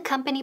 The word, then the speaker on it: company: Company. Company. Esa O suena como que, como una A.